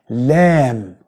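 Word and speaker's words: لام: So, it is not la la, no, it's la la, normal one.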